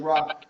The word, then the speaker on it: RAQ: My name is Rock the, spelled R A Q, pronounced R O C and I'm the co-host of the Working People's Pod.